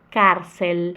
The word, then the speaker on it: cárcel: O L, o L se tiver depois da vogal é diferente e ele vai, a língua vai lá no céu da boca. Então vai ficar assim, alto, cárcel.